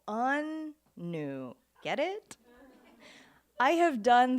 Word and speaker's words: Anu: Like, not new, with the emphasis on the first syllable, un-new.